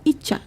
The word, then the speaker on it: ICA: Ica ya. Iya betul. Dibacanya Icha. Ica itu singkatannya.